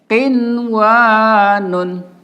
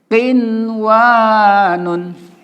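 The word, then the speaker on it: قِنْوَانٌ: Nun sukun ketemu wa, secara hukum idgham bigunah, tapi tidak boleh kita baca idgham bigunah. Harus dibaca ishar mutlak ya. Jadi bacanya qinwanun. Ya, sekali lagi qinwanun.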